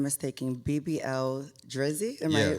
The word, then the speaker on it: BBL Drizzy: hit song, if I'm not mistaken, BBL Drizzy. Am Yeah, I pronouncing that right?